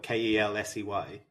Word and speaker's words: Kelce: We've been mispronouncing his last name the entire time. Is it Kelsey? Is it Contendant? From what I understand, it's just Kels, is how it's supposed to be said.